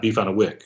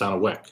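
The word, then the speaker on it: beef on weck: Chicken speedies, garbage plates, beans and greens, salt potatoes, beef on a wick. And I didn't pronounce that. It's not beef on a wick. It's on a wick.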